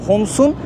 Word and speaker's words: Homs: Homs'un yazılış şekli bu şekilde arkadaşlar. Böyle telaffuz ediyorlar.